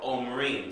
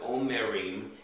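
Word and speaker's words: אומרים: Instead of omerim, it's omrim. The shiva underneath the mem creates a glottal stop and creates two syllables, om, O-M, and then the resh, the yud, and the mem sofit will create rim.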